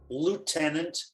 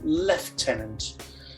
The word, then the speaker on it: lieutenant: And the way the Americans always get it wrong, lieutenant rather than lieutenant.